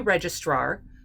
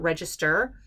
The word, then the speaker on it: registrar: up to be a registrar yes i am actually putting an extra r in there it's not register it's registrar r-a-r make sure you can